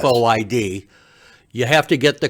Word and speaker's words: FOID: And we pronounce it FOID, yes. FOID.